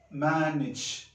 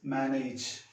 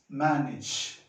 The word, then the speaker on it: manage: Similarly, this is to be pronounced manage. But wrong pronunciation is manage. It is manage.